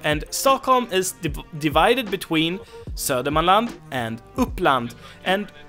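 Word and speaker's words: Södermalm: Alam and Oakland and tsardom island also has an alternative pronunciation which is sodium land and that's why that's because D and E get dropped it's completely normal that D and E get dropped in Swedish we have a bunch of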